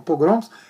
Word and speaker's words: pogroms: A pronúncia certa é pogroms, acontecendo também na Alemanha.